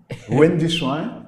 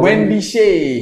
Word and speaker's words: Wendy Shay: Wendy Shuan. It's Wendy Shuan. Wendy Shay.